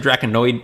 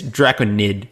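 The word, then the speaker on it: Drakonid: card agreed also um I think I pronounced it Dragonoid its dragon need so bracket yeah it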